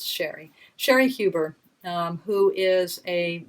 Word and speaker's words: Cheri: And I'm not, maybe you pronounce her name Cherie, but I think it's Sherry.